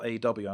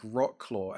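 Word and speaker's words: Wrocław: It's spelled WROCLAW. I'm like, Wroclaw, and I'm like, nope, the pronunciation of that is Wroclaw, and I'm like, it looks nothing like that.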